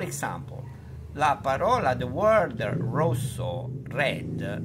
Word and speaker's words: rosso: la parola the word rosso Red si pronuncia con la o chiusa o chiusa Close così